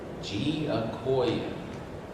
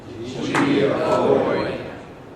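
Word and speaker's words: Giacoia: I'm going to say it, and I want you to repeat it. Giacoya. Giacoya. I was here a couple years ago and somebody mispronounced it.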